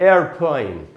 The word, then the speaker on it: airplane: American में इसकी spelling होती है AIRPLANE, इसमें है AEROPLANE, अमेरिकन होगा AIRPLANE, एयरप्लेन, एयरप्लेन। ब्रिटिश में है एरोप्लेन, अमेरिकन में है एयरप्लेन।